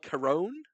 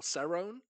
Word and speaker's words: Cerrone: Donald Carone or Cerrone. Cerrone. Cowboy. Cerrone Cowboy. There you Not go. only did I correct pronunciation, hello.